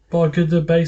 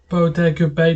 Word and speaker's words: Bodega Bay: As the beautiful blonde Melanie Daniels Tippy Hedren rolls into a bog of the bay. Sorry, I was like, I try and read, my eyes are watering. Bodega Bay, that's it. I was mispronounced it.